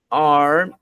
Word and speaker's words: are: These bikes are mine. Ou seja, essas bicicletas são minhas. Estas bicicletas são minhas. These bikes are mine. Essa palavra aqui você pronuncia sem o E. Você diz are. A-R. Are.